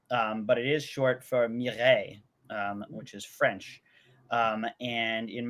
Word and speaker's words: Mireille: Her name is Mira, but it is short for Mireille, which is French.